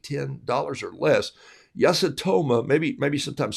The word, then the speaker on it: Yasutomo: And they'll also tell me all the words that I tell you this morning that I pronounced incorrectly. But I know it's Yasutoma.